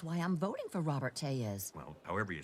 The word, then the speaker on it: Tellez: Robert Tellez. Spell it.